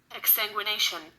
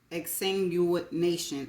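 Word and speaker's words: exsanguination: i o n and this is how it's pronounced exanguination exanguination exanguination exanguination I don't know if I'm going be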